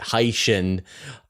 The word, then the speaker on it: Hycean: I'm really trying to get this in my mind, trying to say it Hycean, and hopefully this will help know that at